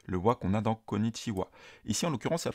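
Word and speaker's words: こんにちは: avec le silagana ha mais se prononce wa comme la particule donc konichiwa bonjour mikchandes C'est mikchan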